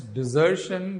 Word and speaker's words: desertion: I'm pronouncing it as desertion because desertion means abandoning.